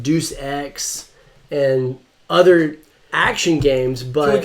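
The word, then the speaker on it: Deus Ex: of their games like dece X and other action games but can we take a quick time out do you really think that it's pronounced Deuce can we address that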